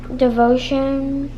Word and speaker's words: devotion: the king reigns over devotion potion no dragon position ah just rhymes like i know devotion devotion potion so devotion position anonymous